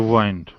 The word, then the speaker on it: wind: second is verb group good how do we pronounce the second one the verb one to wind was very good yes to wind down the